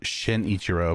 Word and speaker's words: Shinichiro: Uh, it's uh shinichiro, by the way. Want shinichiro?